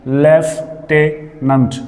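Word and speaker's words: lieutenant: लेफ्टिनेंट, लेफ्टिनेंट, लेफ्टिनेंट, इस तरह से है।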